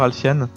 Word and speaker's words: Alfian: C'est la bonne prononciation d'ailleurs, Alfiane ? Oui, c'est Alfiane, tout à fait. Il y a beaucoup de gens qui se trompent et qui disent Alfian, prononciation à la française. On s'est pas trompé. Et non, c'est bon, c'est bien Alfiane.